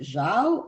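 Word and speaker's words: João: It's spelled, I think Shalom pronounced it Zhao. I'm not sure. It's spelled Joao.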